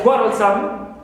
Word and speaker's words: quarrelsome: Some, like quarrelsome, qua is stressed first syllable, but some is neutral also.